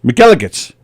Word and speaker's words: McElligot's: Oh, but that Elegance rhymes with penis. What? What are you going to get from Well, that? I don't want to get in trouble, but it rhymes with faggots.